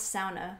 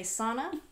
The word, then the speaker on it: sauna: And I pronounce sauna because that's... Oh, because she's Finnish. She's Finnish now. That's the proper way to pronounce it. Do not say sauna.